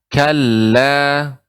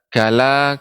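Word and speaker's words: كلا: pengucapannya coba Ibu ucapkan kalah Nah demikian jadi dibaca dengan kala tidak kalah kalah namun kala Nah demikian Coba sekali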